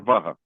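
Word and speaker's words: वह: So you can call it w or vaha. Va. Va. So va is very standard form. and vo that's a colloquial pronunciation colloquial pronunciation.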